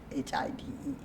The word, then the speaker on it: Hyde: Hyde, Hyde, not Hyde, Hide.